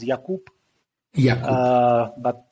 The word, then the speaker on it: Jakub: yeah it's it's uh in czech it's pronounced yakup yeah uh but jacob is completely fine yeah